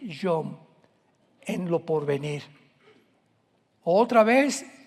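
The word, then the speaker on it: יום: Y tiempos o días son yom, Y o M de mamá.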